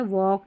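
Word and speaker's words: walk: के एल और के एल के में एल साइलेंट है। वालक, टालक, चालक, यलक नहीं पढ़ेंगे। यहां एल साइलेंट है। वॉक, टॉक, चॉक और योक।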